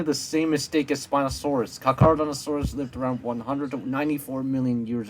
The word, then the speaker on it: Carnotaurus: It's pronounced Carnotaurus, at least you spelt it correctly.